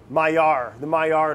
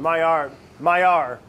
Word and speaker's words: Maillard: It's that, how do you pronounce it? The Maillard effect, or reaction. The Maillard.